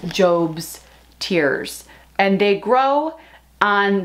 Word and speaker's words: Job's Tears: It's spelled J-O-B, like job, but I think it's Job's Tears.